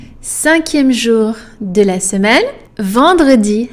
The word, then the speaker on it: vendredi: Vendredi has another nasal vowel in there. It's the oval one, en. So, vendredi. So you have and the nasal and the R.